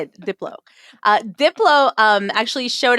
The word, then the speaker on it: Diplo: Uh then deeplo uh I don't know how to pronounce it. I guess Diplo. Diplo. Diplo. There you go. I needed someone to say it. Diplo.